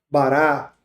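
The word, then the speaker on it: בָּרָא: entendimento, é que essa palavra criou no hebraico, bará, na transliteração dela, se pronuncia dessa forma, significa criar a partir do nada.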